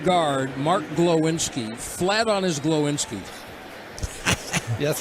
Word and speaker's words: Glowinski: Lewinsky, my guy Lewinsky. Yeah. Broadus was calling him Lewinsky. I called him Lewinsky. I said Glowinski the second time. I didn't say it right the first time.